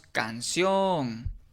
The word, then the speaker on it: canción: Por ejemplo, si tenemos la palabra canción, aplicamos la técnica de la entonación y decimos canción. Okay. Y nos damos cuenta que la sílabación pues es la sílaba tónica, termina en n y es la última, entonces se le debe de colocar la tilde.